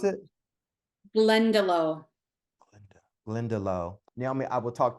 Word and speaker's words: Glendalough: How do you pronounce it? Glendalough.